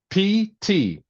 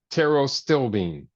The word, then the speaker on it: pterostilbene: It's pterostilbene. Taro. You got it? I wanted you to spell the last part of it. Okay. All right. I spelled it once. Here it is again. Pterostilbene. Pterostilbene.